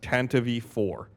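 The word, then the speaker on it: Tantive IV: an official Star Wars material that it is pronounced Tantivy for according to at Ryan underscore freeze on Twitter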